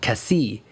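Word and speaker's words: Cassis: few days after called Cassi and Cassi is spelled with an S at the end but you do not pronounce the S at the end of Cassi because French is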